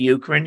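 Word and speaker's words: Uchrin: when we introduced ourselves my name is ukrin you spell that u-c-h-r-i-n and uh you can find my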